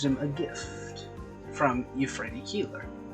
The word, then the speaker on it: Keeler: And he gives him a gift from Euphrates Keeler. I hate saying it that way, because it's spelled that way, but it sounds like Keeler. It sounds like K-I-L-A, not K-E-E-L-E-R.